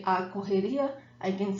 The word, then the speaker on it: correria: we use a lot, correria. And pronunciation tips, see when you have the two R's, the double R in Portuguese sounds like the H in English. So let me read this word again, correria.